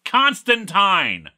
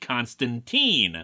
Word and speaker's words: Constantine: to talk about this his name is pronounced Constantine you are absolutely correct that the Keanu Reeves movie and the popular Matt Ryan version in the arrow verse pronounced it Constantine and guess what they're wrong they're simply factually incorrect I actually agree that